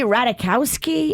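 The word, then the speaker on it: Ratajkowski: here everybody's coming for how do you say her last name emily ratakowski is that how you say it i think you nailed it um she just had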